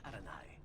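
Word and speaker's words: Arainai: My name is Arani. Oh, that's how you pronounce his last name.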